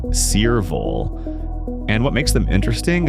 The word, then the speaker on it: Cearvol: These are the Cearvol Wave Hearing Aids, pronounced Cearvol.